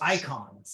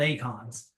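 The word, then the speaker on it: Eikon: They're called icons again. And Yes. yeah, though they should be called Acons, but a little bit more German than Greek pronunciation from our voice actors in Final Fantasy 16.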